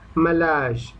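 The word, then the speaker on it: malarz: ম্যালাজ, ম্যালাজ, ওকে, উচ্চারণটা কি? ম্যালাজ, এম এ এল এ আর জেড, ম্যালাজ, ম্যালাজ, ওকে, ম্যালাজ, উচ্চারণটা হলো ম্যালাজ, পেইন্টার, ম্যালাজ, পেইন্টার।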